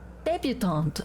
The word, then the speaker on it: debutante: Debutante. I was saying it completely wrong.